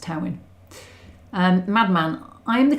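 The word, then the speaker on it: Tywyn: those of you who aren't Welsh t-y-w-y-n is pronounced Towing um madman I am the cliche where I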